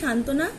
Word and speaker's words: সান্ত্বনা: সান্ত্বনা উচ্চারণ, শান তো না। এখানে আমরা বটা কোথাও লিখছি না। আবার দেখো বয়ের উচ্চারণটাও কিন্তু অনুচ্চারিত থেকে যাচ্ছে।